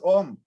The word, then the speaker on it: Om: then what about om why it is pronounced as um is beyond all rules and that is why